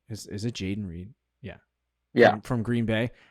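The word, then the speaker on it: Jayden Reed: I say his name right is is it Jaden Reed Yeah Yeah from Green Bay I would take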